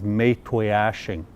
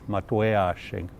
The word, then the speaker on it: Maytwayashing: It's been bastardized, and the way it's pronounced nowadays, and this is a direct result of the old Indian agents, is Maytwayashing. But the proper pronunciation is Maytwayashing.